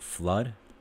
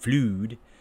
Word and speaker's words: flood: And then the two O's, double O, blood or flood. Not blued and flued.